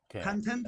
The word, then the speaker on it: content: content content content yeah content emphasis on the second syllable second syllable oh content